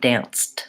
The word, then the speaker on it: danced: the e d sancti danced it's a T sound I listen I listened